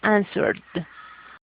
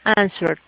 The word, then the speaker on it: answered: Y you see, the verb ends in a R. Como vemos, el verbo termina en una R. Entonces ese ed va a sonar también como una d. ¿Ya? Answered.